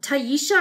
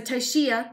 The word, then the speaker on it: Tashia: yeah I can see people mispronouncing your name and saying like um Taisha or something but it okay so Tashia okay I'm glad I